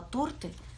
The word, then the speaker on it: торты: очень верю что вы произнесли слова торты правильно с ударением на букву а именно так произносится это слово торты чтобы запомнить и не